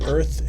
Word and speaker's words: Urth: How do you spell that? EARTH? URTH. I knew that. I was just testing you. Lies. But it sounds like earth.